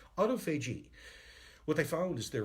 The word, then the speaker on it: autophagy: This is what's called autophagy. Auto or autophagy, some people pronounce.